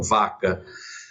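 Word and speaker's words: vācā: Algumas pessoas falam vaca, tanto faz, nada contra, mas eu prefiro Vacca porque eu acho que é a sílaba C em sânscrito tem mais um som de Cha, como Citta, do que de C, mas isso é puro preciosismo meu.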